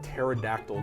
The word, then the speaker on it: pterodactyl: Why can't you hear a pterodactyl go to the bathroom? Its P is silent.